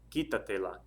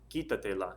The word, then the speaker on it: quítatela: And then the last one, quitarse la ropa, so take off your clothes would be quítatela, quítatela. Stress over the I on the quita, so that's where you put your accent mark.